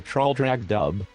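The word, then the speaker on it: Traldragdubh: It contained a warrant for conducting me and my retinue to Traldragdub, or Trildrogdrib, for it is pronounced both ways as near as I can remember, by a party of 10 horse.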